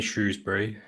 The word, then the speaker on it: Shrewsbury: been playing you guys now it's most definitely Shrewsbury there's no it's an e excellent stuff well